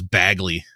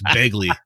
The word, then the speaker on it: Begley: Vince points out that Macho Man mispronounced Ed Begley Jr.'s last name as Bagley. It's not Bagley, it's Begley.